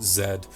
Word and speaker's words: Z: The battle with Z, or rather as British pronounce it, Zed, himself was nothing short of one of the greatest spectacles that I've seen in quite some time in gaming.